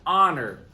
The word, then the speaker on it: honor: time it is an honor to teach licking heights seventh grade it is an honor there's a silent h there so uh all